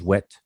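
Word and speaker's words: wt: with the words as the word wet that we pronounce as wet which is to embalm and it has to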